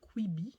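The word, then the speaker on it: Kweebee: Et il faisait partie d'un groupe qui s'appelle Quibi, ça s'écrit K-W-E-E-B-E-E, dans lequel vous pouvez retrouver notamment Mehdi Custos et deux autres personnes, j'ai que les prénoms, c'est Patrice et Pascal.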